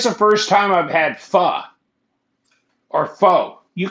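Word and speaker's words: phở: There's an accent on the O.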